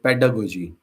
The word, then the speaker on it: pedagogy: a g o g y and it's called pedagogy so the last thing g y is spelled as g so just like in biology or psychology. So pedalo pedagogy which loses the a but still combines pedos